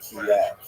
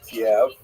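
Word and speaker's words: Kyiv: In fact, the great uh Ukrainian historian Pritsak opined that Kiev as it's pronounced today in the Ukrainian pronunciation cave was actually founded by Khazars which is an interesting thought.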